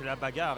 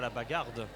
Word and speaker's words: Bag'Hard: La bagarre, il faut bien que je prononce la bagarre et pas la bagarde.